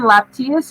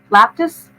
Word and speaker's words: Iapetus: Laptius or laptis? Iapetus. It's an I.